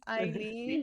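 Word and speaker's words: Aylin: ask you yeah okay so me my name's Eileen it's spelled a-y-l-i-n so you different spelling um I am 25.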